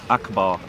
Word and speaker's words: Akbar: it we'll zoom in this one here yeah Akbar and it's pronounced Akbar yep right so every time if